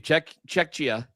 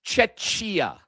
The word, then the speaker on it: Czechia: He assisted on the goal that gave Czechia. Gave Czechia. Now you have me confused. Is it Czechia or Czechia? No, it's. I think it's. Now I'm in my own head about it. I think it's Czechia.